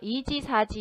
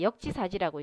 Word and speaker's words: 역지사지: 우리가 이지사지 이렇게 읽는 것이 아니라 역지사지라고 읽으니까요.